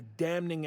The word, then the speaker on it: damning: That's a damning accusation. Am I right to present? He actually pronounced the N in damning.